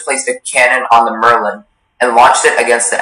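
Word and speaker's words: merlon: Merlin is the only pronunciation.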